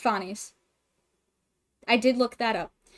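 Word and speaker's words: Phanes: Fones sorry I looked it up and it's pronounced Fones I did look that up um the important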